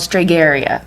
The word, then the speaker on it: Stregheria: So the Italian American religion is called Stregheria. Stregheria, yes. But there's something that predates that, correct? So let's start with like a history lesson. So okay, so a lot of Americans hear about Stregheria, and Stregheria is a religion, and it's very